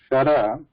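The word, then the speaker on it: शर: Whereas sha, like in shara, is the talavya.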